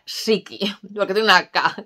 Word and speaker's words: Ssiki: van en dos lados que por cierto se pronuncia siki lo que tengo una caja que todo el